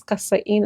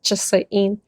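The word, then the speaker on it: casa'in: Chasa'in, chasa'in, even though it's kasa'in and the spelling, but pronunciation is chasa'in 90.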